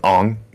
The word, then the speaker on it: Aang: Muffin, it's Ong.